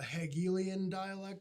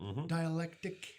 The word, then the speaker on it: dialectic: the comments that's a hegelian dialect did I pronounce it right dialectic hegelian dialectical you saw you caused